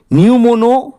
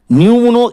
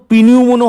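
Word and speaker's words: pneumono: নিউমোনো তারপরে দেখুন ultra microscopic silico volcano কোনিওসিস। এইরকম নিউমনো এখানে কিন্তু পিনিউমনো হবে না পি এর উচ্চারণ এখানে সাইলেন্ট আছে পি এর উচ্চারণ হচ্ছে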